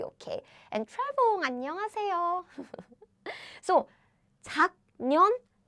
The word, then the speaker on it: 작년: So the nasal version of sound is So how we pronounce is 작년. Ooh, yes, it's not 작년. Nope. It's 작년.